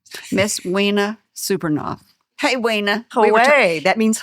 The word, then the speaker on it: Wena: Wina is actually pronounced wina. Wena, which is beautiful, but you southerned it up.